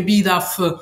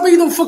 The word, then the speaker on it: Bidoof: Voglio subito dire che io penso che Bidaff. Scusa, come l'hai pronunciato? Bidaff? Ma che razza di pronuncia è quella che più mi è venuta naturale quando l'ho letto da piccolo? È ridicola, pronuncialo Bidoof come tutti!